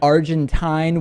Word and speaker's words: Argentine: the word Argentinian then Argentine with a silent e at the end so just in order